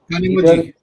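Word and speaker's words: Kanimozhi: So, yeah, if you see the list of countries being visited by our delegation, Greece stands in Kanimuzu. How do you pronounce the DMK's leader? Kanimuji.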